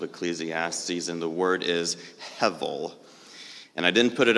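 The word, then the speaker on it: הבל: Hevel.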